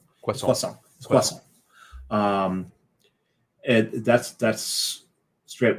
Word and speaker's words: croissant: But sometimes I get the chocolate one and that um in French it's pano chocolat and should I say croissant quason quason um and that's that's straight when I when I actually do bother to go into work and not work from home.